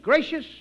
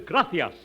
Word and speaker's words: gracias: simple spanish phrase read it please okay mooches gracious amigo no no no not gracious that word is gracias you see in spanish the sea is pronounced